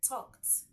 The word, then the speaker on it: talked: We have other words like talked, talked.